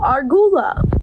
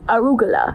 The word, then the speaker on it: arugula: I saw it at this pizza place and I said, "Ooh, argula." My friend's like, "No, Brooke, that's arugula."